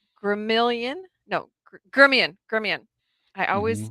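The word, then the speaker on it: Gremillion: see if i can pronounce his name correct gremilian no germian gremion i always mis pronounce it but it's spelled gremlin but it's pronounced gremion so john i got it right this time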